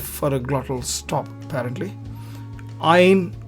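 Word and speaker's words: ע: Ain also is used in the same way, except with a nasal sound. Again, those are old sounds. For now, we can simply treat them as silent, and if there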